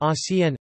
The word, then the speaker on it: Archen: The word arken arcs is thus pronounced acn, which makes a minimal pair with aken axn, making the difference between c and x phonemic, rather than just allophonic, for these speakers.